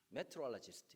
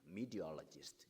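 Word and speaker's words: meteorologist: 메트럴지스트 이러면 발음 괜찮죠? 근데 미국 사람들 거의 못 알아듣습니다. 미디로지스트 이렇게 해야 발음 알아듣습니다.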